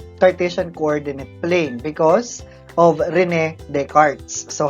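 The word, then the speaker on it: René Descartes: Cartesian plane or Cartesian coordinate plane because of Rene Descartes so how do you pronounce it again you pronounce it as Rini Descartes so Rene Descartes is a French mathematician and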